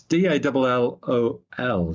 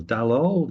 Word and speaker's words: Dalol: its name um but it is d a l o l dalol dalol not sure it could even be dool would be in in a Spanish-speaking country um it's worth checking out